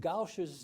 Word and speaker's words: Gaush: So it's G-A-U-S with a diacritical mark over the S, which makes it sound S. So when my father came to the United States and was naturalized, they said, we would suggest that you put an H on the end of your name so it's pronounced correctly.